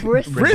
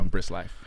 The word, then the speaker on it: Briss X Life: The X is silent, guys. Like some people call me Brisk. They be like Brisk Brisk. life.